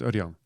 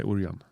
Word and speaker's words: Ørjan: Ørjan is always hard. Ørjan. But English or American people say Ørjan. Yeah, Ørjan. With an O.